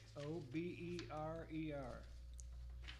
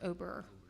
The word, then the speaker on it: Oberer: The last one is Isaac, O-B-E-R-E-R. It's pronounced Oberer.